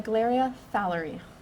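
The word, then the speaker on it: Naegleria fowleri: itself how to say that name uh the glaria fowlery i know you said your name could you just spell it out and give your job title oh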